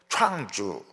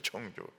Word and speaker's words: 청주: 또 물었습니다 어디로 모실까요 충주를 말하는구나 어려운 연수가 막 기분이 좋아가지고 충주로 갔습니다 충주가 아니고 청주였습니다 청주 청주 그러니까이 발음이 굉장히 어려운 거예요 청주 충주 바람이 구별이 안 됩니다 이 자대전 때도 청주를